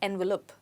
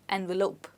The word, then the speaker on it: envelope: as envelope envelope okay remember that the ending is not lup but lope people often say envelope when it's supposed to be envelope okay now let's look